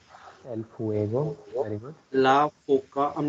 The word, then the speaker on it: foca: La Foca. I'm not very sure about the pronunciation of this one.